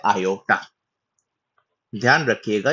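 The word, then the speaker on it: iota: उसके बाद आता है आयोटा ध्यान रख रखिएगा। ये लोटा नहीं आयोटा है।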